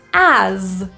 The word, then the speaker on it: as: he he full Smile as this word is spelled with an S but we pronounce it with a zed sound so this is a voiced Z as you the typical